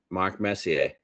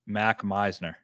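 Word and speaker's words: Mac Meissner: I'm looking hard at this guy, Mark Messier. I honestly have no idea how to say his name, but... So those at home wondering who he's talking about, it's Mac Meisner.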